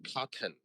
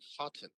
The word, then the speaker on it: cotton: Uh sometimes uh it's not a t sometimes it's like an N like cotton. When you're learning English, they teach you to say cotton.